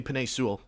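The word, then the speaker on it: Penei Sewell: are going to probably draft the left tackle sell way if i'm pronouncing that or that or names excuse me penny sewell that's how you pronounce it but we're kind of getting on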